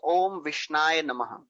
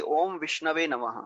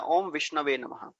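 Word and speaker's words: ॐ विष्णवे: how to pronounce Sanskrit he says om vishnai actually it should be omishnavah when he's offered something to lord he should chant the mantra om vishnava but he does not know the Sanskrit.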